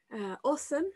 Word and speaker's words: OSUM: Awesome. This is actually a two-time project, and it has the best acronym just because you pronounce it awesome.